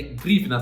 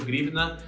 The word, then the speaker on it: hryvnia: O nome da moeda da Ucrânia é grivna, tá certo? Pode falar desse jeito mesmo, é um nome estranho, grivna.